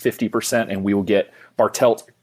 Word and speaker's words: Bartelt: like the idiot sure my last name is bartelt it's exactly how it's spelled I know and yet I I think I I think I said Bartel I think that's the bartelt and so it's funny